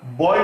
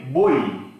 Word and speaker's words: বই: কেন এটা হয়, কেন হয় ওটার হল আমরা বয় বলি না, বলি বই, উচ্চারণটা করি এই বই।